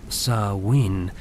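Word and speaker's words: Samhain: El más importante de todos era Samin, pronunciado como Sain, celebrado en la noche del 31 y 1 de octubre al primero de noviembre.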